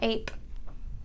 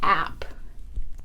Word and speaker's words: ape: This would say app. App. It's a closed syllable. It has one vowel, ends with a consonant, so the vowel says its short sound. Ah. To get that A sound, I need that E on the end because I know that E